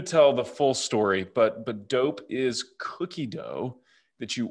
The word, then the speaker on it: DoughP: of a company called DoughP, and that's spelled like dough, like bread dough or cookie dough with a P on the end.